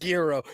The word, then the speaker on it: gyro: It's pronounced gyro.